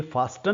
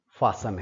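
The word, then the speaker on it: fasten: फासन जूते की जो तस में बंद करते हैं उसको हम आमतौर पे यह फास्टन नहीं है। जैसे लिसन है वैसे ही फासन है।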